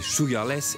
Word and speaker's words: Suga/es: Sugar S, à prononcer Sugarless, est un groupe plein de surprises.